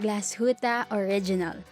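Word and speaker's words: Glashütte Original: Pitt running around with our watches number 13 glass huta original the next company whose name comes from Germany's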